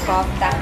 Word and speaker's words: kofta: Next, you guys try the kefta. Actually, this is pronounced as kofta, kefta, but...